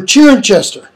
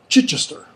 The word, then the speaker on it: Chichester: Or Chirinchester. Chichester.